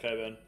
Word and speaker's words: Cockburn: because it says yeah cockburn but it's actually pronounced Coburn it's a bit silly for those that don't know it's a place in Western Australia literally spelled cockburn but it's pronounced Coburn whoever